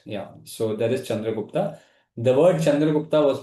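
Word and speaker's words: Chandragupta: So that is Chandra Gupta. The word Chandra Gupta was mispronounced as Sandra Kotus.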